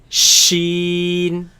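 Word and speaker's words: ش: Sheen, Sheen. sheen, Sheen. sheen. Sheen. Now this comes from the middle of the tongue against the middle of the upper palate.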